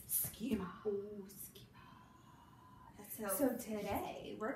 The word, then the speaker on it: schema: It looks like sechema. Ooh, that sounds like something that I ate the other day. But it's schema.